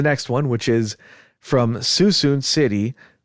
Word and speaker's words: Suisun: Okay, let's go to the next one, which is from Suisun City, spelled Suisun, but the person put in parentheses Soosoon. I'm assuming that's a pronunciation. Suisun City on the 12th of November at 13:15, which is 1:15.